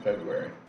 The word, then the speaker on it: February: office underground parking lot weird how we don't pronounce one of the R's in February the thing was that